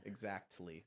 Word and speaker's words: exactly: Exactly. That's one of my biggest I know you love that. fucking pet peeves. People pronounce the T in exactly. Yeah. It's exactly.